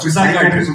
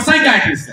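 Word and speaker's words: psychiatrist: इज द P silent in साइकेट्रिस्ट द P silent ओ साइकट्रिस्ट में पी है पहले पिसाइट्रिस्ट नहीं पहले पिसाइट्रिस्ट था चेंज अच्छा अच्छा सो प्लीज रिमेंबर साइट्रिस्ट हां good to come on good to come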